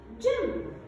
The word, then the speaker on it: gym: Also we said that when it's followed by Y, it makes the sound J, J, as in the word gym, gym. Here, letter G followed by Y, so it is a soft G sound.